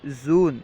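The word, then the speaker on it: ژوئن: کے بعد ہے جون، جون کو فارسی تلفظ میں اس طرح کہیں گے زون، ٹھیک ہے، جون کو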